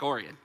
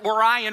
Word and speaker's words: Orion: Number 1, the whole world pronounces Orion wrong. You're the only ones that got it right.